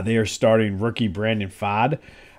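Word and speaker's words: Pfaadt: are starting rookie Brandon fod I think it's fod I think the t is silent uh and I think the p is silent too but uh either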